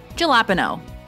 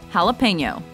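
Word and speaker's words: jalapeño: rocket science is it jalapeno common mispronunciation jalapa no correct pronunciation jalapeno Lupino yaki common mispronunciation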